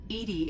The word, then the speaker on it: EDI: Why are you named ED? ED is the phonetic pronunciation of EDI.